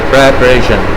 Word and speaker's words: preparation: Nah, jadi preparation. Nah, E-nya lemah. Ketahuan dia cara baca.